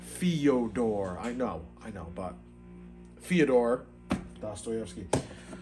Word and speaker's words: Fyodor: Fyodor. Like Theodore. Fyodor.